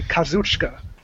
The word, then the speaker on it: Kazuchika: But if you hear it pronounced by a Japanese person, they say Kazuchika. So there's certain words or certain letters in that you don't pronounce. So that's just my Japanese grammar lesson for the day. At least you know your Japanese grammar. Kazuchika. So not like the English. Not like the English. So you would say Kazuchika, right? So Kazuchka. You wouldn't pronounce the I that's in it.